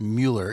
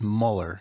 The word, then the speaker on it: Muller: And we also learned that your last name is pronounced Mueller, even though it looks like it's Muller. Right. Correct. And that's to help people pronounce it better. Or yeah. What's the So it's Mueller in the family when you talk to each other. But if I want it spelt properly, I just say Muller.